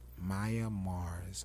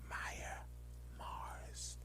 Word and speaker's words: Myia Mars: Maya Mars on YouTube. Did I say it right? You said it right. Maya Mars.